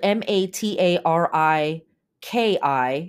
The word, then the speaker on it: Matariki: very cool um okay the way the word is spelled m a t a r i Ki if you would like to learn more about